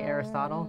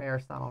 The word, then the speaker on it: Aristotle: You say Aristotle?